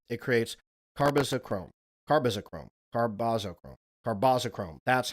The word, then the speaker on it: carbazochrome: Carboschrome.